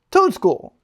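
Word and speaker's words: Toedscool: For everyone's favorite segment of the day, Pokemon pronunciation of the day. Toads, cool. Toadstool.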